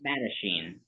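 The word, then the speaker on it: Mattachine: uh did you say it's the Matachin society? Is that how it's pronounced? Madachine. Madachine. Yeah.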